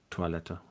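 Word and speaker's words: Toilette: Um just most German dialects would pronounce it a little more in the French way. Uh tweleta. Twileleta. Uh generally you would be absolutely correct that German words with oi are toy letter but we usually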